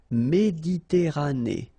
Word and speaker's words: Méditerranée: Okay, here final not pronounced, but then you pronounce this E at the end. Méditerranée.